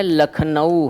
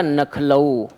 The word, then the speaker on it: लखनऊ: सही शब्द क्या है, लखनऊ है, और इस लखनऊ को वो क्या बोलने लगा, नखलऊ। ठीक है, नखलऊ।